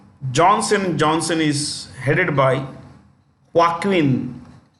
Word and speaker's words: Joaquin: Johnson is headed by Joaquin this J is pronounced with the ha H okay Joaquin duato that's the name